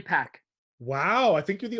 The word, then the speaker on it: Pech: understand conversions david yeah is it pronounced patcher peck oh definitely pack wow i think you're